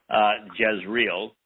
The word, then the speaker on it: Jezreel: It's spelled very similarly to Yisrael, but it's Yzrael, Jezreel, that we witness Deborah.